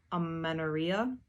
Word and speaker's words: amenorrhea: women, they'll develop something, I believe it is pronounced amenorrhea, and that is the absence of a normal period.